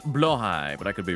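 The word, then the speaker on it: Blåhaj: Blahigh pronounced blowh high.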